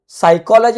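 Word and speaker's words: psychology: silent word म्हणतो तसच इथं सायकॉलॉजी आपण याला म्हणतो इथ पी सायलेंट आहे पी घेतच नाही इथं तुमच्या तुमच्या स्पेलिंग मध्ये जरी पी असला तरी तुम्ही त्याचा उच्चार करत नाही याला सायलेंट वर्ड आपण म्हणतो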